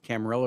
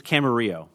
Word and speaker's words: Camarillo: of your name today do you pronounce it camarilla or camarillo it's camarillo with the y sound okay so the the the the spanish pronunciation mr uh camarillo and